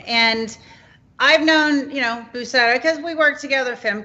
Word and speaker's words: Buceta: Well, it's pronounced Buceta, and it's, as far as I know, it's Spanish. My background for my family is mostly from Spain, and yeah, that's pretty much it. It sounds like Buceta.